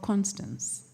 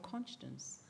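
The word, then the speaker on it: Konstanz: at the University of constance and if I wanted to use the way they pronounce it they say University of conscience they wouldn't say Constance and we got used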